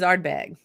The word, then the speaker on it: Ardbeg: But I always thought it was Ardbeg. And then we get there and everybody's saying Ardbeg. Ardbeg. No, Bowmore instead of Bowmore. Yeah. You know, so the emphasis on the second syllable.